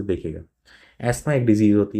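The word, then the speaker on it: asthma: तो एस्मा की अगर मैं बात करूंगा तो एस्मा बोलते हैं इसको बेसिकली प्रोनाउंसिएशन ऐसा अलग ही अस्थमा नहीं बोलते हैं इसको।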